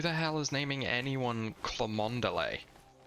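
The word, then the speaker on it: Cholmondeley: It's pronounced Chumley. I mean, I've heard the name Chumley before, but that is not how you pronounce that word.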